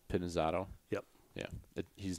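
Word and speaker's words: Pinizzotto: jesus how do you say nick's last name pinazzotto pinizato yep yeah he's not italian is he yeah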